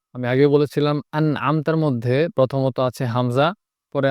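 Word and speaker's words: أَنْعَمْتَ: ভর্তি হয়ে আওয়াজ হবে, আনআমতা। আমি আগে বলেছিলাম আনআমতার মধ্যে প্রথমত আছে হামজা, পরে আছে আইন, মাঝখানে আছে নুন। তো হামজা এবং আইন যখন পাশাপাশি হয় তখন অনেক সময় উচ্চারণ কঠিন হয়ে যায়, এজন্য খুব খেয়াল করতে হবে।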